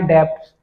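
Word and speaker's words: debts: I don't pay back my डेप्ट्स। यदि मैं अपने ऋण नहीं चुकाऊंगा तो क्या होगा? डेप्ट्स बोलते हैं। वैसे बी साइलेंट रहता है लेकिन आजकल डेप्ट्स भी बोलने लग गए हैं।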